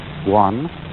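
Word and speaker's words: 觀: which was represented by that Chinese character which I drew at the beginning, pronounced guan, or quiet observation.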